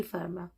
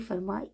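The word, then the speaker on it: Fermat: एक हमारे पास थे पियर डी फर्मा, इसका टी साइलेंट है, पियर डी फर्मा।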